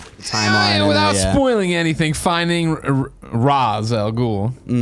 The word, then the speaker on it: Ra's: Wasn't it Ra's? No, they made a joke about it where they pronounce it Raj and then Talia corrects them at one point.